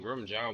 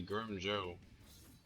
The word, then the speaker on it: Grimmjow: J ja well actually I still call him Grim J but it's actually Grim Joe is weird kind of weird to say got gota do what you got to do to say it right I guess but Grim